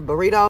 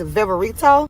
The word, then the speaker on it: Viverito: Y'all know I call her Burrito, but her name is Viverito.